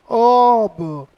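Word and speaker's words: of: ये जो आपको ये दिखाई दे रहा है आपको ओ एफ पहली चीज ये आपको ऑफ नहीं कहना है। इसका सही प्रोनाउंसिएशन क्या होता है बेटा? इसका सही प्रोनाउंसिएशन होता है आपका ऑब।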